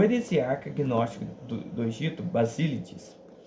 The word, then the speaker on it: Basilides: heresiarca gnóstico do Egito basilides é isso basilides Bas Tá certo a pronúncia aqui basil negava a